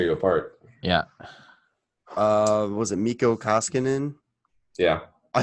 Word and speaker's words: Mikko Koskinen: Was it Mikko Koskinen?